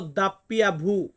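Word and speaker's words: doppia vu: আছে ডাব্লিউ আমরা ডাব্লিউ বা ডাবল ইউ এমনটা উচ্চারণ আসবে কিন্তু আমরা ইতালিয়ান ভাষাতে এটাকে বলব দাপ্পিয়া ভু দাপ্পিয়া ভু বা কিছু ক্ষেত্রে দাপ্পিয়া ভি আসবে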